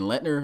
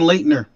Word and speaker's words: Leitner: And Letner. Is that how you say Ellen and Letner? Because I think it's Leitner, so it's probably N. Leitner is what it is.